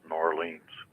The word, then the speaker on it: New Orleans: they referring to is it Los Angeles Miami New Orleans or Seattle what city is called The Big Easy it's actually pronounced norleans yeah that's right oh give me a break